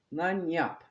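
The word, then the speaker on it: lagniappe: Lanyap. That's how that's pronounced.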